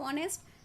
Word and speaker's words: honest: is the spelling of honest h o n e s t the spelling the word begin with h h is consonant but H is silent and the pronunciation will be begin with o honest right that's why we